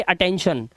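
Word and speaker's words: attention: अटेन उसके बाद देखो टी के बाद आई ओ एन आया तो इसे पढ़ेंगे अटेंशन और इसे पढ़ेंगे क्रिशन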